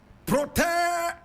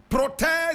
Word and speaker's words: Protais: Protais Zigiranyirazo. Protais Zigiranyirazo. Protais is spelled P-R-O-T-A-I-S.